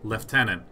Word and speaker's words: lieutenant: long to understand that this is pronounced lieutenant like I know that we say lieutenant in modern English but like leftenant in old-time eNOS man like to